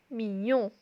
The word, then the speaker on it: mignon: Il est mignon.